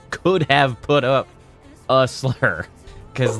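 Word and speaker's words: Slyr: It's It's spelled Yeah, it's spelled S L Y R, but it's still pronounced slur in that case.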